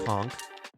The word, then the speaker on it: conch: about you we were talking about con and conch we did the whole thing I don't know if you saw it but uh yeah uh so they decided that is pronounced conch that's most unfortunate and